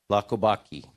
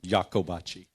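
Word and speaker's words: Iacobacci: is presented to Lacobacci. Lacobacci, sorry. Right? Lacobacci. Get up here. You know, us Italians have problem, you know? I'm sorry. Okay, how do you pronounce it? Jacobacci. Jacobacci.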